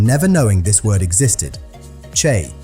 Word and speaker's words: chay: Chay, one syllable, completely plant-based.